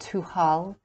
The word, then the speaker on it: Tuathal: The ward, Tubal, is a disguised form of the Irish word Tuathal, pronounced Tuhal, meaning a lord, signifying in this character the spiritual or advanced ego.